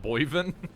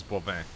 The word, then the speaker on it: Boivin: Oh, that's how you say it, not Boivin? Yeah, he is not Patrick Boivin, he is Bovin.